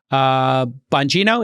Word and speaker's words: Bongino: And these included people like Dan Bongino, is that how you pronounce it?